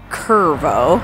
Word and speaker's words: Cuervo: Okay, it's spelled like Cuervo, the tequila brand, but I'm pretty sure it's pronounced Curvo, because this ain't Mexico. This is New Mexico.